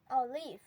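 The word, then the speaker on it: olive: বাদাম অলিভ অলিভ চপ্পাই আমরা একে বলে থাকি অলিভ তবে এটার আসল প্রোনাউন্সিয়েশন হবে অলিভ অরেঞ্জ অরেঞ্জ কমলা পাম পাম তাল পিচ পিচ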